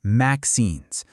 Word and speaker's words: MXenes: They're called MXenes, and you pronounce that maxenes.